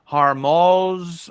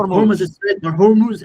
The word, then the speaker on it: Hormuz: want to ask what's the correct way to pronounce it? Some people in the USA say hormos or hormuz do you say straight of horm straight. So that's it. Hormuz American media saying horm.